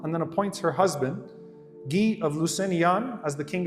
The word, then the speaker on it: Guy: then appoints her husband G of Lucan as the king of Jerusalem if you read in the English literature by the way it's spelled as guy his name is not guy G of linon is